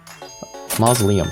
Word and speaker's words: Mausoleum: Mausoleum, that's how you pronounce that.